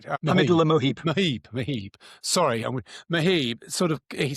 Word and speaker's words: Mohib: Sorry, Mohib.